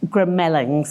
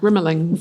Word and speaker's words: The Grimmelings: Um, but it's Grimlings, isn't it? Grimmelings.